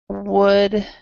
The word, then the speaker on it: would: remember this this word coou l d is could so the L is silent here so these words could would there's this L there and it is silent so we would say could and would good could would okay